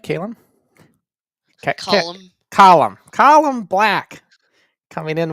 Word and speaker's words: Calum: Calum, am I pronouncing this right? Calum?